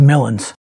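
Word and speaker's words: millings: in the paving business, if you pronounce the G, everybody says millins.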